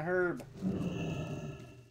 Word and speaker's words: herb: Here's my herb. Yes, it's a herb, not an herb. Why? Because it starts with an H. And I know everybody says, but the H is silent.